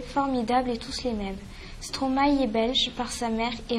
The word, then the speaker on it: Stromae: brésil une petite information il ne faut pas mettre d'accent sur le e de stromae qui se prononce trop mal merci c'est la fin